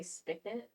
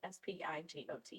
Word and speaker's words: spigot: free to uh people say spot, but it's it's spelled s p i g o t. I know it's spelled spyot or something. Spigot.